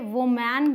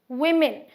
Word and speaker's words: women: वो बोल दिया तो इसे वुमेन बोल देंगे, राइट, क्योंकि यहाँ ई है, लेकिन ये भी गलत है। सही प्रोनाउंसिएशन है वी मी न, women।